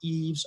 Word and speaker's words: Ives: this one name is quite hard to pronounce also the Netherlands so you can come Yves Yves Yves I've my friends also have trouble